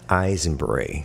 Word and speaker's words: Aisenbrey: you can share yes your last name Scott eyes and Bree oh yeah it starts with the name so